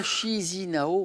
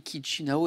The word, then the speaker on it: Chișinău: Alors ça s'écrit C-H-I-S-I-N-A-U, hein. Mais on ne dit pas Chișinău, on dit Chișinău.